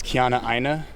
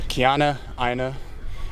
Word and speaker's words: Keanaaina: Last name is Keannaina It's it's so Keanna-Aina It's slowed down a little bit.